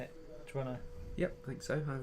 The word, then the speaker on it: Toronto: Pretty much slur the end of it.